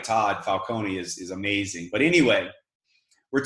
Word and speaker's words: Falcone: Todd Falcone called me yesterday. And I never knew that's how you pronounce his name. It's kind of like Nike or Nike, right?